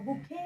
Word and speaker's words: bouquet: আ বুকে of flowers, ফুলের যখন তোড়া আমাদেরকে কেউ গিফট করে তখন আমরা তাকে বলবো বুকে।